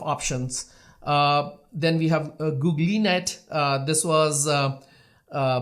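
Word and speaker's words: GoogLeNet: uh his name so even though it looks like Google net but the right way to pronounce this network is googlet okay uh so there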